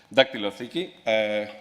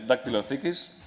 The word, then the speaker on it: Dactyliotheek: It's called Dactylotheki. That's the Greek pronunciation. Sorry about that.